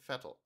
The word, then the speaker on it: Vettel: commentary added Sebastian Vettel German pronunciation Sebastian fettle born 3 July 1987